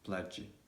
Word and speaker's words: pledge: g so for example pledge bridge bridge pledge pledge bridge in these cases is also going to be silent and also we've got